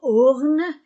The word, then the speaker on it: ornent: Des tableaux, E-A-U-X-O, des tableaux ornent, la terminaison E-N-T du verbe ne se prononce pas. Des tableaux ornent les murs.